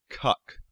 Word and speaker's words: Kek: That Kek was the name of an ancient Egyptian deity, a frog-headed one. Also worth noting, it can also be pronounced Kuk.